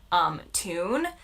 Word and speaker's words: tune: And they were like, it doesn't rhyme with Dune. And I was like, well, it does to me. And I didn't realize that it was a slightly different pronunciation. I would say it rhymes with Dune.